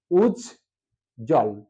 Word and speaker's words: উজ্জ্বল: একটা ব ফল আছে আমরা কখনো এই ব এর উচ্চারণটা দেখি না সেজন্য আমরা যখন উচ্চারণ লিখবো তখন ব উচ্চারণটা অনুচ্চারিত থাকবে আমরা একটু দেখানোর চেষ্টা করি এখানে কয়টা অক্ষর আছে উজ জল উজ জল অর্থাৎ দুটো